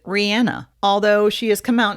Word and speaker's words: Rihanna: be simple and yet most people call her rihanna she pronounces it rihanna although she has come